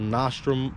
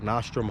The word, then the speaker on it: Nostrum: a newer company called nostrum performance well let me say it right nostrom high performance um that's